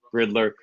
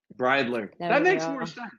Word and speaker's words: Bridler: my special guest today none other than Rowan Riddler I apologize if I butcher your name I'm terrible name pronunciation bradler that makes more sense alright so as with